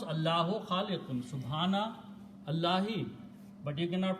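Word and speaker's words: خالق: want to stop here, then I will pronounce this khaliq. These two dhammas noon sound will go away, and a stop sound will come out with the sound of sukoon or jazm.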